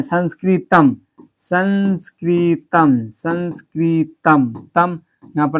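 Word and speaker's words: संस्कृतम्: कोई भी शब्द के अंत में आता है तो इसका उच्चारण क्या हो जाता है, मो आता है, क्या आता है, मो आता है।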